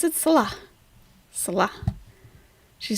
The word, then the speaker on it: Salah: Salah. Salah. She says Salah. Salah. Her emphasis is on the wrong syllable.